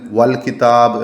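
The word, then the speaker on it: والكتاب: അൽ കിതാബ് എന്ന് എഴുതുമ്പോൾ ഇവിടെ അലിഫ്ലാം ഉണ്ടല്ലോ അതിൽ വരുന്ന ഹംസ വസലിന്റെ ഹംസയാണ് അപ്പോ ചേർത്തി വായിക്കുമ്പോൾ ആ ഉച്ചാരണം നഷ്ടപ്പെടും ഉദാഹരണത്തിന് വൽ കിതാബ് എന്ന് എഴുതുമ്പോൾ കണ്ടോ അലിഫിന്റെ ഉച്ചാരണം പോയി അപ്പോ വാവ ഇല്ലെങ്കിൽ കലിമത്തിന്റെ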